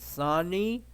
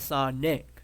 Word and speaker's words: Sonic: I said Sonny. I said no. He said Sonic. I said, "Oh, Sonic."